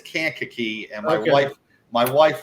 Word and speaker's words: Kankakee: tackle in America from can cocky Illinois that's that's listen it's Kankakee and my wife my